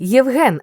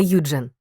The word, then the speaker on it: Євген: і граматику так хвостику ти Євген а не юджен Марічка а не Маша Не спотворюй свого імені за чужомовним зразком будь як Христя фріланд